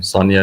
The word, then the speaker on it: Sanja: So if you look at Sanja, we call it, pronounce the name Sonia in our country, but if you look